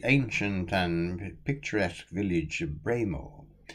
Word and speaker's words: Breamore: and picturesque village of braymore pronounce it bremer if you wish to please the locals besides of a flint